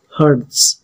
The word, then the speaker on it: Hertz: Nah, ini ditulisnya Hz. Dibacanya itu adalah Hertz ya.